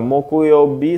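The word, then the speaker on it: 木曜日: ya minasang ya I bang suyobi ini bang mokuyobi sang King yobiombang kayobi Hai yang manakah yang benar untuk cara baca kanji nomor 5 saya naikkan lagi ya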